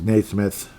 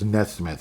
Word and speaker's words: Nesmith: Naismith, jeez. It's Nesmith, actually, but yeah, it's spelled differently.